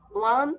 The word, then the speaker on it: won: The tortoise crossed the finish line and won the competition. আমরা এটার উচ্চারণ অনেকে বলি win, own বলি, তাই না? But its pronounce is won. O-N-E, one যেভাবে আমরা বলি, W-O-N, আমাদের pronounce same হবে, one.